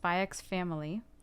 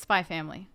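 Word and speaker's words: Spy×Family: some content I watched spyx family like in Japan the X isn't really like an X oh yeah in Japanese it's spy family yeah that's yeah yeah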